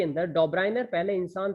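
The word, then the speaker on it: Döbereiner: फिर उसके बाद इन 1829 के अंदर डॉब्राइनर, ध्यान से सुन लीजिए, प्रोनाउंसिएशन सही से सीख लीजिएगा, डॉब्राइनर, इनका नाम क्या है, डॉब्राइनियर, ठीक है।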